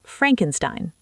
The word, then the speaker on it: Frankenstein: And remember, it's pronounced Frankenstein.